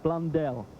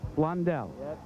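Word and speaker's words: Blundell: all of us announcers as to the proper pronunciation of your name. What is it? Okay, it's Blondelle. Blondelle.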